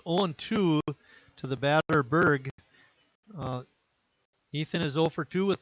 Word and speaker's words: Burgh: name is spelled b-u-r-g-h he said it's uh berg just like pittsburgh so we can go